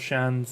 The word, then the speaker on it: Shans: The pronunciation of Shans is the same as Shans. Like chance, but with a sh at the start.